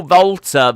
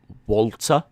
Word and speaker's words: WALTER: why do you call volta volta uh that's how he pronounces it there's been interviews where